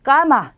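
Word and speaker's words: cama: 그래서 까마 이렇게 발음하시면 되고요.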